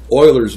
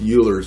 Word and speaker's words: Euler: well they they coined this this this number Oilers number now for years I always pronounce this Euler's number because it looks more like Euler's to